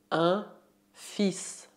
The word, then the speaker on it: fils: Para falar de filho, usamos o termo un fils. Un fils. Prestez atenção na pronúncia, o L é mudo.